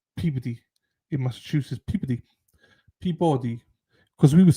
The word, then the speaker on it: Peabody: It's pronounced peodyy. Yeah, I would say pee. Peabody, but it's peeody.